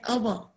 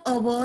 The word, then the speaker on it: hour: Be careful the sounds of the letter which is important, like a house but an hour. The H at the beginning of hour is silent so that we can use an article for this word.